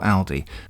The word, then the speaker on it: Aldi: before we start that you don't need to correct my pronunciation of little or aldi i'm aware that those stores pronounce their own names differently in other parts of the world but here in the uk i'm using the pronunciation that those companies have chosen themselves for their tv advertising as before i'm going